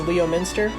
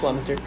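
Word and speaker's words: Leominster: four we've got leminster looks like it says leo minster nah it's laminster at number three we got scituate now you're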